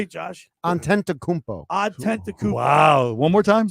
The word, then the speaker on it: Antetokounmpo: Antetokounmpo, he's the Milwaukee Bucks are a good. Say good that 3 squad. times. Did I say it right? You said it wrong. Say it, Josh. Antetokounmpo.